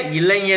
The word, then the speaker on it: இளைஞர்: பாத்தீங்கன்னா இன்னொரு இயக்கம் இந்திய இளைஞர் இயக்கம். இந்திய இளைஞர். சில பேர் வந்து இப்ப நான் சமீபத்துல பாக்குறேன். இந்த ஞா இருக்கு இல்லையா இளைஞர் அப்படின்னு சொல்லாம இளைஞர் அப்படின்னு சொல்றாங்க. இது ஜா கிடையாதுங்க. இது வந்து ஞா இளைஞர் அப்படின்னுதான் உச்சரிக்கணும்.